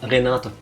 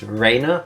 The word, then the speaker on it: Rena: Renata. It's not Renata. But it doesn't matter. First things first, apparently it's not supposed to be pronounced Reina, but Rena.